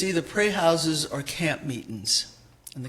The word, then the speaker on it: praise house: Now, when you talk about praise houses, what is a praise house? Praise house, the proper pronunciation would be pray house.